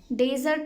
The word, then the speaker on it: dessert: डेजर्ट में सिर्फ single S होता है. प्रोनाउंसिएशन भी डिफरेंट है, डिज़र्ट और डेजर्ट.